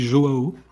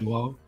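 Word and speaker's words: João: fait prononcer le truc et on dit Joao Ah, on dit Joao? en portugais. Ouais. Ah, parfait. Joao, C'est plus- un peu chantant.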